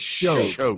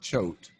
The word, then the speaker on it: Choate: to know that the pronunciation of my last name is actually with a SH. So it's Choate. It's not Choate. It's not there. The C is like that good deacon in your church. It's there, but you don't say it that way. You don't pronounce it that way.